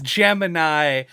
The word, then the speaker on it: Gemini: like like why is why is Jiminy not just called Jiminy it's Gemini but they very noticeably pronounce it wrong I assume that was